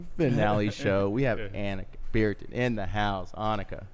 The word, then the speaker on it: Anneke: I tell people sometimes when I pick up the phone here in the U.S., I say Anneke because Yeah. people understand it a little better. But Yeah. in Dutch, you pronounce it Anneke.